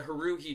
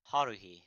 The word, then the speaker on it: Haruhi: And so, yes, the Haruhi Translation Club, as we say.